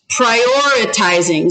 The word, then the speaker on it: prioritizing: Prioritizing. So it's prioritizing. So how many syllables was that? Count. Prioritizing. 5. Prioritizing. Prioritizing. 5 syllables. So we're going to break this up into syllables.